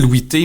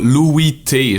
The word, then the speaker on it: Louis T: Non, surtout qu'on dit pas Louis T, genre, tu sais, on dit Louis T.